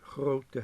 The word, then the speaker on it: grote: Het grote huis. It's spelled as gro plus te. And again, it's an open syllable, so the O is written once, but it's pronounced long.